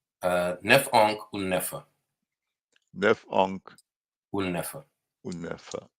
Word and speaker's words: Nafaunkh: Nef'onk Unnefa. Unnefa. Nef'onk Unnefa.